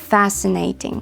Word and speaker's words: fascinating: Fascinating. Зверніть увагу, що тут не вимовляється звук ц, бо англі в англійській мові звуку ц немає, тому просто таке протяжне с fascinating.